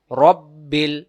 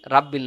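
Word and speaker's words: رَبِّ: ফালাক ফালাক কুল আউজুবি রব্বিল বিরব্বিল রাব্বিল না এই যে বাংলা দেখেন রব্বিল বিরব্বিল ফালাক আমরা যদি পড়ি কুল আউজুবি রাব্বিল রটা রা হয়ে যায় সহি উচ্চারণ হবে আউজুবি রব্বিল ফালাকুল আউজুবিল ফালাক ভিডিওটি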